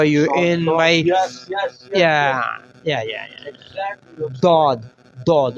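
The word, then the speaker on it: ض: Tip of your tongue, don't use tip of your tongue in this pronouncing.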